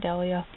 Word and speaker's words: Delia: Then I had the Delia or Delia series trilogy. I pronounce it Delia.